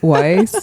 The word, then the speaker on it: Weiss: Weiss, yeah.